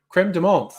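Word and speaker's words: crème de menthe: Creme de menthe. It is a Creme de menthe. yeah, creme de menthe That's how is it's pronounced. de menthe. Yes, we're going to be French.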